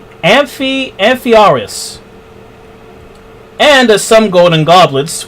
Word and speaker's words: Amphiaraus: in the temple of Amphiaraus. I said that name way wrong. Let me pronounce that again. Amphiaraus.